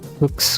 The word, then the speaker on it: Fuchs: the RWB 911's rim saying like Fuchs, or however you pronounce it in German, they're like Fox. Fox in German.